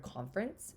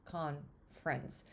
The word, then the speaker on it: conference: sound out the word conference, at least the way I say it as almost like two syllables, conference. I don't say conference. I don't enunciate that second syllable.